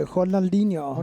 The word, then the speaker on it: Ronaldinho: if it's R in the beginning of a word, it's pronounced as an H. If it's in the middle of it, then it's an Interesting. R. Okay, Ronaldinho.